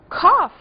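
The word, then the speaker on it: cough: estávamos falando Pois é esse final aqui também é pronunciado como f Cof é tosse e até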